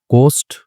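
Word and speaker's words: ghost: गोस्ट, ठीक है, इसको भी घो लिखा है, इसमें गो नहीं होता, गो होता है यहाँ पे, ठीक है, गो, गोस्ट, क्योंकि एच जो होता है साइलेंट होता है इसमें।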